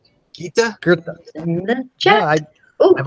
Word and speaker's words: Goethe: be an R, and it's not a TH sound, but a T sound. Yeah, someone also says no R, it's a EA sound. So it's that's Gita? How Americans pronounce it. Gita? Goethe.